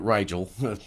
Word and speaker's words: Rygel: y g l uh pronounced like Nigel but Riel so I got I got to say it right myself on Instagram and Facebook just search mad rigel m a d r